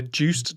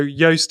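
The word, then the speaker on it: Joost: okay so the first one is on the juiced dot blog i don't know if i've said never pronounced that right juiced or is it yoast oh okay so yoast is the pronunciation so yeah yoast.blog but it's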